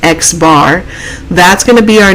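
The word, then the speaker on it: x̄: bar on top and it's actually pronounced x bar that's going to be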